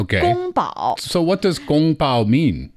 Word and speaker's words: 宫保: Well, kung pao was not, but gong bao was. Oh, but it just got kind of changed. Yes. And then when it made its way west, then the pronunciation changed even more.